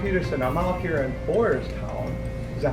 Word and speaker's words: Boyertown: I'm out here in Boyertown. Is that how you say it? Boyertown, Pennsylvania.